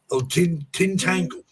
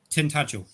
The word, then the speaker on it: Tintagel: Okay, this one is Tintangle. I think that's how you pronounce it. Tintagel.